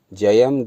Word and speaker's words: जयम: रूपम देहि, जयम में या में बिंदी लगी हुई है, तो इसका उच्चारण जयम हो जाएगा।